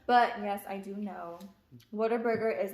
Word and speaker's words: Whataburger: mean what a burger it's not water burger okay what a burger well you can pronounce